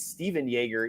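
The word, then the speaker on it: Stephan Jaeger: i dropped him uh i think it's stephen yeager even though it's spelled stefan jaeger but uh i mean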